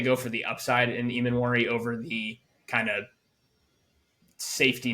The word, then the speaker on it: Emmanwori: Nick Emmanwori.